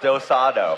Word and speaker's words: do-si-do: It's pronounced dosado.